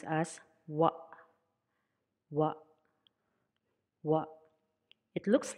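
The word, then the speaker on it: ワ: Katakana wa, pronounced as wa, wa, wa.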